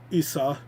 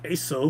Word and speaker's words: Esau: I absolutely hate Jacob and Esau. And yes, that is how it's pronounced, Esau. I always thought it was Esau or something, but I guess it's Esau, even though it's E-S-A-U.